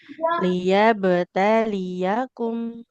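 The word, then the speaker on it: ليبتليكم: Bukan litab. Kalau titiknya di bawah, dua huruf apa, Ibu? Ya, ya. Liyabtali taliyakum. Diulang. Liyabtaliyakum.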